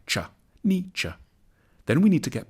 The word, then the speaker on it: Nietzsche: the challenge begins with how to pronounce his name the first bit should sound like n the second like cha n cha then we need to get past some of